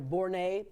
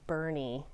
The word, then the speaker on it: Boerne: flight delays first Tori let's start with a pronunciation lesson because you hear all kinds of things I'm going to Bourne Texas I'm going to bouret bouret would be French this is german yes